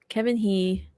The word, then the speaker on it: Kevin He: guys miss this news Kevin he that's how you pronounce his last name right okay Kevin he recently signed with the